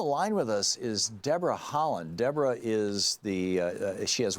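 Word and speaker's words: Haaland: say your name well it sounds like it's pronounced like the country is spelled H a a LAN d your web site right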